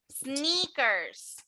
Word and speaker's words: sneakers: Esta I de aquí va a sonar casi como E. Sneakers. Y este EA de aquí suena mucho a I.